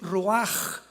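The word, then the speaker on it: רוח: La palabra para espíritu en el hebreo es la palabra que es roaj, que se escribe rua con ch, pero repito, ese pronuncio pronuncia como J. Roaj.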